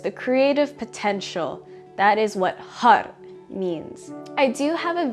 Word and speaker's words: Har: the mantra hard now when we pronounce hard you'll be striking the top of the roof of your mouth with your tongue as well as pumping very strongly through the navel Center so when you say Hut you'll be bringing your navel inward towards your spine and the pronunciation is more like Hut with Addie at the end a UD sound rather than har har-har hut hut hut